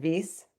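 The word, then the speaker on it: Wyss: So after you joined um you joined as a postoc at is it called Weiss Institute? Yeah, the V. Yeah, if he's German. How do you say it? Vase.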